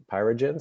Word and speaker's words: Pyregence: Today we're going to have two presentations about Pyregence. Is that the right pronunciation?